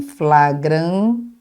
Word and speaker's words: flagrante: Prisão em flagrante. Então, se escreve flagrante, tá claro? Flagrante. É assim que se fala, é assim que se escreve, ok?